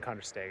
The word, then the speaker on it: Kandersteg: The dog is in Kandersteg. I'm in Kandersteg, actually, that's the way it's pronounced.